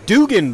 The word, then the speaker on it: Dugan: That is Dugan by the way. I said it wrong for three years. He let me do it till he finally corrected me.